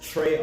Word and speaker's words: Tray: Trey spelled with an A, not with an E. I know a lot of people have been spelling my name with an E. And in Guyana, that's Tree.